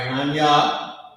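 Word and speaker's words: أنا: So ana right ana that's how you pronounce this word a h y aa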